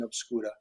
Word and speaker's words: Obscura: I'll go with how Alejandro and they've always said obscura, and it always sounds really, really great too.